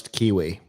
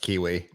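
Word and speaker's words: Qiui: spell it q-u-q-i-u-i cellmate i'm going to pronounce kiwi okay tell me a male i don't know why but something tells me that's pronounced kiwi a male chastity sex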